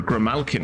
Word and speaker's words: Grimalkin: Remember, Grimalkin is the correct way to pronounce it.